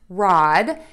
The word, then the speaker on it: rod: Next, for the word rod, you are going to open your mouth wide in an oval, and when you do that, your tongue is going to rest in the bottom of your mouth. Ah.